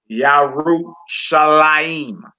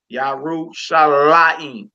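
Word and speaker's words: ירושלים: Yarushalayim. What word is that, my sister? Jerusalem. Jerusalem. All right. We put our emphasis over the lamed because the accent symbol is above the lamed. Yarushalayim. Yarushalayim. Hallelujah.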